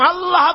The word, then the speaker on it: আল্লাহ: আল্লাহ আল্লাহ পাকের উচ্চারণটা হচ্ছে আল্লাহ পাকের নাম হচ্ছে আল্লাহ আল্লাহ মুখটা একটু গোল হয়ে যাবে বলেন আল্লাহ আল্লাহ আল্লাহ আল্লাহ সুবহানাল্লাহ